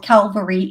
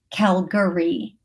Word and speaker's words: Calgary: Everybody's correcting me saying it's Calgary. It has to be Calgary.